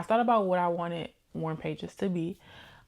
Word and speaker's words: Warm Pages: I say Warm Pages, it sounds like I'm saying Warren, WARN, and people are like, huh? But I am saying warm pages.